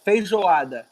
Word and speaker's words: feijoada: that I see that it's baby Giada yes feijoada you would pronounce it takes water quite fluffy Giada feijoada